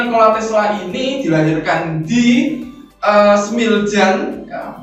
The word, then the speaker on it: Smiljan: Nah, di mana Nikola Tesla ini dilahirkan di Smiljan, ya, bacanya Smiljan atau Smiljan ini.